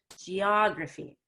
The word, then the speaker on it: geography: graffiti geography yes and it's roughy not graphy that is geography geography okay good yeah